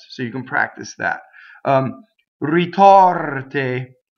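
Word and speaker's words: ritorte: So notice that the O is open and the E is closed. The O is in the stress position. We're going to memorize it is open. The R rolls, it touches the T, and we know that the E is closed because everything in an unstressed position is closed.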